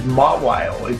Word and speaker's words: Mawile: Thank you for backing up my pronunciation there. I've always said Mawile. It's Mawile, is it?